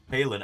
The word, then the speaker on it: Palin: How's that pronounced? Palin? But yeah. Palin.